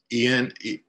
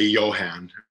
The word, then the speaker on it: Ewan: aside here, tangent is, if we think of Ewan McGregor, that's how we in America need to try to remember how to pronounce Ewan's name. It's like Ewan. So it's Ewan Berglund.